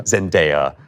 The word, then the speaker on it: Zendaya: Zendaya, as I've been told to pronounce it.